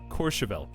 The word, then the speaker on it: Courchevel: It's pronounced Courchevel. I think I didn't put enough emphasis on the first O. With like a whistling mouth shape almost. Courchevel. I think I said more like Courchevel. Like C-O-R-E.